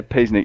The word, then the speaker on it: Piesnik: If I say Piesnik, is that okay? Is that the proper pronunciation? Yeah, Piesnik. Yeah, you're doing well, mate.